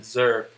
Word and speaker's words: XRP: zurp which now since one other person called it zurp which is just pronounced that's how you pronounce xrp to me eddie